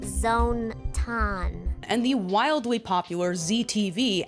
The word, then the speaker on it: Zone-tan: mascot, Zontan, It's pronounced Zone-tan.